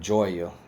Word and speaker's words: Joya: And that's how I say her name, Joya.